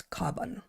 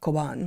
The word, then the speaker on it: Cobán: this place before, but there's no way, given that it's a Spanish word, that it's Coban. Yeah. It's not Coban. But And there's an accent chip. over the A, Coban.